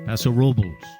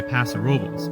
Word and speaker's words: Paso Robles: Paso Robles or Paso Robles? Well, if you're a local, you say Paso Robles, but that is not the correct way to say it.